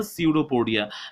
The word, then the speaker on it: pseudopodia: known as the pseudopodia it starts with p but p is silent here so that's why this